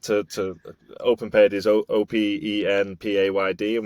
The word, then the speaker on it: OpenPayd: We had to train it not to OpenPayd is OPENPAYD, and we had to train it not to be OPENPAID.